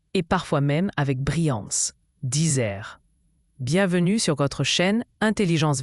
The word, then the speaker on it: disert: Le mot disert vient du latin disertus, qui signifie éloquent ou habile dans la parole. Il désigne une personne qui parle avec aisance, clarté et souvent avec beaucoup d'élégance. Disert se prononce disert.